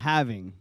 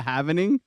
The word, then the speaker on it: halving: It's a halving. Okay. Doesn't it drive you nuts when people call it a halvening?